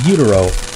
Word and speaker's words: gyro: Like he was saying, what the fuck's a utero? He was like, is that saying gyro in Spanish? And I'm like, well, it's how they say it in Greek, and he didn't know what I was talking about.